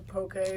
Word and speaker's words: poke: some poke or whatever and he's like it's poke it's pronounced poke and I'm like bro you're a